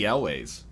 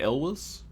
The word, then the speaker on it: Elwes: You're talking was about in the, Casey Elways. Yeah, exactly. He was in the first one. Casey Elwes? I think it's Ellis. I think that's how you pronounce it, actually.